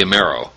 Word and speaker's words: Amero: it called again uh the Amero yeah the I like the sound of that rhymes with Euro in the meantime we'll